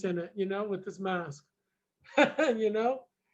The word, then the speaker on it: Heerak: Heerak, Heerak.